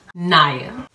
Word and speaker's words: Kniya: starters i'll say that my name is naya now everyone gets it wrong right here because it's spelled the k my name spell k n i y my mom was trying